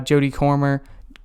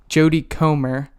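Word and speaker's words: Jodie Comer: did really like uh jody cormier jody comer is how you pronounce her name uh was also really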